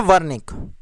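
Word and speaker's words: Wernicke: जबकि जो आपका कान के नीचे होता है उस एरिया को बोला जाता है वर्निक। मैं स्पेलिंग लिख देता हूं आपको।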